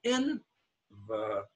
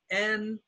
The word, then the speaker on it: envelope: Now the second E has no stress. It's an unstressed word, envelope. And because of that, it becomes schwa. Now the O here, we're not studying O today, but there's a silent E at the end of the word. And so this, before the silent E, this vowel becomes long, and long O is O. So it's envelope.